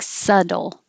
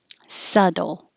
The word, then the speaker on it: subtle: The B is silent, so you don't have to say it at all. And the T changes to a D. So it sounds like subtle, subtle.